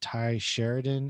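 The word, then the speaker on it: Tye Sheridan: actor and uh it also stars was that ty sheridan is how you pronounce his name he's in other movies such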